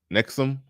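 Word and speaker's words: NXIVM: Matt from Tinder says it is pronounced Nexum.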